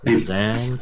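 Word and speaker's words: Xan: Zan I will spell it for you.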